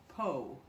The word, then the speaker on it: Pau: first travel weekend to Pau. Some of you may think that's spelled P-O, but it is spelled P-A-U, and it's a small town.